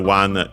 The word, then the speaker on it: を: Then we have the object particle o, written as wo and pronounced as such in careful speech and singing.